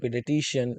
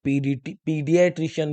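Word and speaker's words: pediatrician: आपने सुना होगा पेडिट्रिशियन, तो बच्चे का जो डॉक्टर होता है उसे बोलते हैं पेडिट्रिशियन, या कुछ लोग इसे पीडियाट्रिशियन भी बोलते हैं।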